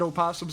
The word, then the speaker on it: opossum: Opossum is just possum, but said stupid because you're not supposed to pronounce the O.